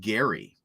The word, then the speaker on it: Jerry: So yeah, it is spelled Jerry, but it is pronounced Gary.